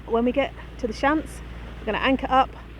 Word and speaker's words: Shiant: Lewis over there the shant Islands on the chart it's spelled s-h-i-a-n-t but it's pronounced shunt looking very green and